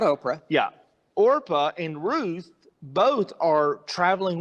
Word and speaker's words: Orpah: out differently and so orpah rap sorry i have to really think before i say her name think like oregon yeah she uh she